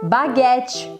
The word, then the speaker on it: baguette: palavras menu menu tá a pronúncia sempre que é diferente baguete baguet filet filet omelete om Aliás